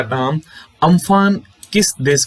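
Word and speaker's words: Amphan: चक्रवाती तूफान को अम्फान नाम थाईलैंड के द्वारा दिया गया था, जिसका इस चक्रवाती तूफान का उच्चारण जिसका किया जाता है उम्फुन के नाम के रूप में किया जा रहा था।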